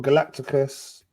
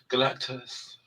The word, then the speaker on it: Galactus: So this one's be based on Galacticus and the Silver Surfer. I added extra syllables in there. Galacticus. Galactus. Galacticus, brother.